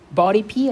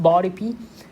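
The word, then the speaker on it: BODIPY: measure lipid droplets using body P, I think they call it. That's the way that is pronounced, body P, a fluorescent molecule that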